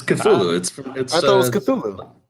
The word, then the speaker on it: Cthulhu: It looks like Hulu. Silent No, CT, just Hulu. Is it Hulu? It's Cthulhu. I thought it was Cthulhu. Yeah, it's Cthulhu.